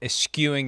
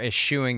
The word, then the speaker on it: eschewing: Saquon Barkley, 22 carries for 83 yards and a touchdown, and eschewing the opportunity or eschewing the opportunity, depending upon your preferred pronunciation, to score another touchdown late.